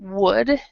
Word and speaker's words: would: for example this word would uh we we don't say the L here so it's um so